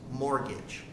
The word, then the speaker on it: mortgage: mortgage now a mortgage the first thing you have to know about a mortgage is that t in the word is silent so it's just mortgage and what a mortgage